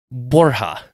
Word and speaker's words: Borja: name to Borgia from the Spanish pronunciation that I'm going to butcher borja okay yeah Borgia a lot